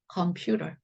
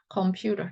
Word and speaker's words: computer: 않은 것입니다 그런데 여러분들이 특히 티 발음을 세게 하지 마시고 약간의 ㄹ발음으로 바꾸시면요 아주 좋은 발음이 됐어요 자 그래서 컴퓨터 이거보다는